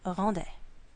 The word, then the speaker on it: rendait: This word, and this word are all pronounced the same, rendait.